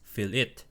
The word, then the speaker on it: fillet: So isn't it pronounced as fillet welds? So according to the dictionary, which is this one right here, when we are to speak about metalworking, fillet welds is, well, pronounced as fillet welds.